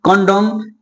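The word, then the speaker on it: condemn: यानी कि यदि किसी वर्ड में एम के बाद एन आए, तो वहां पे एन का उच्चारण नहीं किया जाता है। तो समझिए जैसे क्या आ गया, ऑटम, कंडम, कॉलम, हिम।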